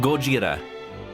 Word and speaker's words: Gojira: supposed to be pronounced it's supposed to be pronounced Gojira but not like goira it's like goira that's